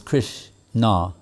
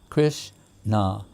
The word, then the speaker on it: Krishna: Krishna teavana 20 is in the two syllables Krish nah right two syllables krrish na saying how much nectar